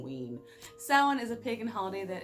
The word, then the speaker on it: Samhain: talk about salen and if you've been saying Samhain that is incorrect I'm sorry I love